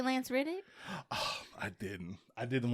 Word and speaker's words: Reddick: I think we're mispronouncing his name. It's Reddick. Let's put some respect on it. Lance Reddick.